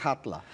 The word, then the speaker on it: Halla: narradora, cujo nome é Hatla. É assim? Você que acabou de me ensinar aqui como pronunciar. Os islandeses diriam assim. Está escrito Halla, H-A-L-L-A, mas é Hatla.